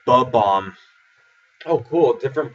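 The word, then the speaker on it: Bob-omb: From Mario, the bow bomb said like "buh bomb."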